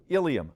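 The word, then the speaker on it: ileum: They sound alike, but they're spelled differently. Watch me please. The first one is Ilium, I-L-E-U-M.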